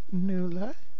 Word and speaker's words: Nuala: Anyway, once again, your host, NUALA. People sometimes get confused about pronouncing my name because of the U, but it's a Gaelic name, an Irish name.